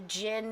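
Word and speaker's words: djinn: genie is um and it's spelled funny too it's d j i n n and the only reason that i have rosemary marielle and guiley's book here on the gin and i'll tell you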